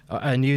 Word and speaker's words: Anew: Anu the Distant Light is that's spelled ANEW, the Distant Light, and that's